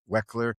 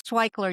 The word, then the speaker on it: Waichler: relevant and meaningful conversation with our guest Iris Wexler. It's Twickler. You were very close. Twickler, okay.